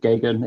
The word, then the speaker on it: Geoghegan: yes it's actually uh just a matter of ignoring the spelling which which uh is very counterintuitive and uh it's just gagan it's what I used to say to people is it rhymes with Ronald Reagan uh I guess I